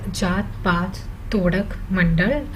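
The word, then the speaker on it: Jat-Pat-Todak Mandal: the annual conference of so it's pronounced as jaat path todak mandal and it is an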